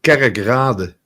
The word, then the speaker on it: Kerkrade: It's pronounced Kerkrade. Okay. Kerkrade. Kerk means church.